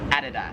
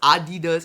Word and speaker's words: Adidas: In America, we would pronounce this as Adidas. However, here in Australia, it is Adidas.